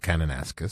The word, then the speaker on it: Kananaskis: It's pronounced Kananaskis. Kananaskis country.